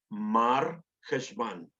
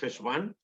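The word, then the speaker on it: חשוון: Dos cosas tenemos que saber del mes de Heshvan, o se llama en términos askenazí, Mar Heshvan. En términos generales es Heshvan, solo que los askenazís pronuncian mucho Mar Heshvan.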